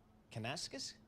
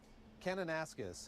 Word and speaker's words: Kananaskis: Kanaskas?